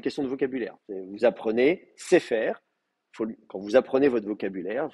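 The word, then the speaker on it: ספר: Donc je ne vais pas mettre sefer, je vais mettre sefer. Cela dit, je sais qu'on fait souvent des fautes parce qu'on prononce quand même sefer. On dit sefer, meler, etc. Mais si vous regardez bien, vous verrez en fait, c'est pas un ségol, c'est un serré.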